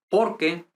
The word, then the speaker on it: porque: Here we say porque tengo. So this doesn't have any accent. I mean, like any pronunciation, intonation accent, no? Porque tengo. The accent goes here in the next word.